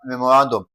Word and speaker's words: memorandum: So, for memorandum, we're having memorandum. That is we lay emphasis on the r a n, okay?